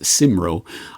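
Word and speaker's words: Cymro: but I have it on good authority it's pronounced simro um chiming in to say that that's a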